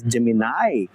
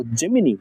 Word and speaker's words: Gemini: that is basically called gmin right you might have used it I really love this gimin uh the Americans say it is Gemini or gimini yeah so we used